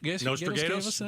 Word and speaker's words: Nostradamus: Nostradamus. Pronouncing it correctly.